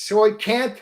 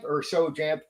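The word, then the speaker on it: Xaocanth: S4, the Lost Caverns of, now it's pronounced two different ways, Soy Canth or Soy Janth.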